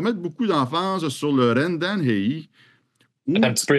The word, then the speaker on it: RenDanHeYi: Rendan Hui. C'est un phonème qu'on maîtrise mal.